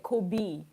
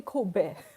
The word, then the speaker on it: Kobe: Yeah, Kobe beef, the kinds beef, it's Kobe, but I think Americans say Kobe. It's actually Kobe.